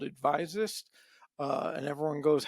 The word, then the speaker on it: Advisist: Currently, I work for myself at a consulting firm called Advisist. And everyone goes, how do you pronounce that and why? Well, a physicist is an expert in physics, an advisist is an expert giving advice.